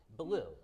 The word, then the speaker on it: Ballou: Ballou, is that how you pronounce it? Ballou, that's exactly right, like Cat Ballou in the movie.